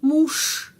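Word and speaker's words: муж: Seperti suami, muž. Kita menulis muž. Ada huruf J. Tapi pengucapannya sh, muž.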